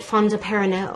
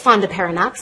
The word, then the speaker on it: fondaparinux: And so I thought you pronounced it Fondaparinux. I thought it was, you know, French sounding. It's Fondaparinux. I pronounced it wrong for years.